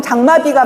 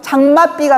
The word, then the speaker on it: 장맛비: 발음 장마비가 맞나요? 장맛비가 맞나요? 장맛비가 맞습니다. 표준 발음을 장맛비로 인정을 했기 때문에 사이시옷을 쓰게 하는 거예요.